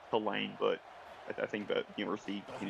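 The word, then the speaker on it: Tulane: signal for Also, isn't it pronounced to lane, not two lane?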